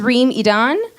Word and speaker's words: Reem Edan: So my name is Reem Edan, not to be confused with Ramadan.